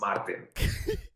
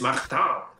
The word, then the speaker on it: Martin: differently exactly i mean my name in my language is for us martin in in french it's magta yes first week back